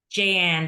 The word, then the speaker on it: Jahan: Jahan? Jayan, the H is silent. Jayan.